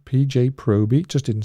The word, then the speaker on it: Proby: Proby? Yes, that's how it's said. PJ Proby.